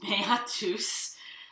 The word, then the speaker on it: meatus: I know it looks like meet us. It's meatus.